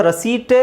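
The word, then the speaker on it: receipt: ಇಸ್ ಹೇಳೋ ಅವಶ್ಯಕತೆ ಇಲ್ಲ ಪಿ ಇಸ್ ಸೈಲೆಂಟ್ ಸೋ ಏನಾಗುತ್ತೆ ಇದು ರಸೀಪ್ಟ್ ರಸೀಪ್ಟ್ ರಸೀತಿ ರಸೀತಿನೇ ರಸೀಪ್ಟ್ ಆಗಿರಬಹುದು ಅಥವಾ ರಸೀಟ್ ರಸೀತಿ ಆಗಿರಬಹುದು ಗೊತ್ತಿಲ್ಲ right ರಸೀಟ್ ರಿಸೀಟ್ ರಸೀಟ್ ರಸೀಟ್ okay so P silent ಆದ್ರೆ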